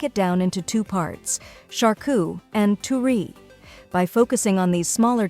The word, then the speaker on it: charcuterie: It's also important to note that the French pronunciation of charcuterie is slightly different with a more guttural R sound and a less emphasized final syllable. However, for most English speakers, the anglicized version described above is perfectly acceptable and widely understood.